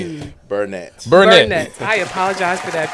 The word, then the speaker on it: Burnett: Burnett.